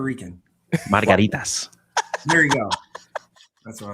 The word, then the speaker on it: margaritas: Roll your R's a little bit more. Here we go. You say it, Rico. Let me hear you. You say it, Rico, like a real Puerto Rican. Margaritas.